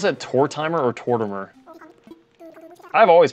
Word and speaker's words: Tortimer: Like I pronounce Tortimer. I pronounce that Tor timer. I know people don't like that, but I guess it's like my southern accent.